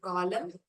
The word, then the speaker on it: column: In the words autumn and column alphabet, N is silent letters.